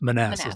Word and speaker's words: Manassas: I'm trying to That's fair, but it is pronounced Manassas though, Manassas, right?